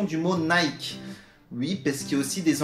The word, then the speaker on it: Nike: pourquoi nous du coup on devrait forcément prononcé sa nike ici même les anglophones ne sont pas d'accord j'espère que vous avez